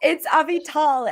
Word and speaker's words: Avital: went on, It's Avital, and the little trick is Avital, Siri tries to write my name all be tall, if that helps how to Avital.